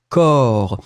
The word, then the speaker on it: corps: a noun, and it's corps. Remember, the way to write corps, it's C-O-R-P-S. We don't pronounce P and we don't pronounce S.